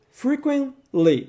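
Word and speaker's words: frequently: na pronúncia dessa palavra você não vai pronunciar a letra T frequen Lee simplesmente esqueça do tema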